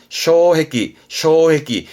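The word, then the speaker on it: 障壁: 발음은 쇼해끼.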